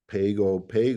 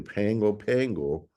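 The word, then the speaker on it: Pago Pago: here at the Zamboanga the pgo pgo or pronounced correctly the Pango Pango in Portland but um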